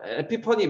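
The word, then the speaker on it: epiphany: 에피데믹 해가 에피퍼니 보면은 쭉 꿰뚫어서 보인단 말이에요. 아, PHAN이 PH가 F 발음이잖아.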